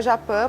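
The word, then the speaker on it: Japy: É @coletivo.japi com Y, se pronuncia Japã, porque a gente pegou exatamente o tupi, então, mas na pronúncia Fica aí... bonito, parece francês esse tupi-guarani, né? E tem a ver, né? Japã, olha Japã.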